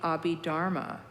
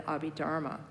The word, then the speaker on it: Abhidharma: And then the last set of teachings he gave was called the Abhidharma. That's spelled A-B-H-I-D-H-A-R-M-I.